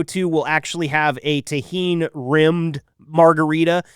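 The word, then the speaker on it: Tajín: it, but that is the seasoning taheen. It is spelled T A J I N.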